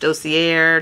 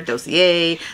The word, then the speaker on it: Dossier: Now I've heard it pronounced Dossier, Dossier, so you know, however you want to say it.